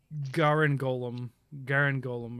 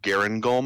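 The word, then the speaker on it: Garangolm: So Garen Golem, I think, is technically how you would pronounce it in one fluid motion.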